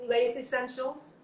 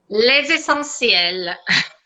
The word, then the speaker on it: Les Essentiels: you decided to have Les Essentials. Well, that's how I'm saying it. How do you say it prettily? Les Essentiels. Okay, it sounds much better.